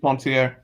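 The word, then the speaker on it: Poincaré: He's French. I pronounce it Poincare.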